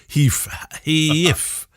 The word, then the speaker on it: HEIF: Is it Hive or Heath? Heath. I call it HEIF format, but they seem